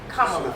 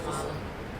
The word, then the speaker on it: Kamala: of course for the people for the Sisters Kamala for the sister Kamala Kamala Kamala Kamala yeah we all we allab